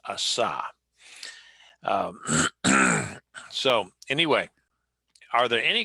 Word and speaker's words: Asa: in deep east texas as asa okay just so you know and uh but uh it's in hebrew it's pronounced asah so anyway are there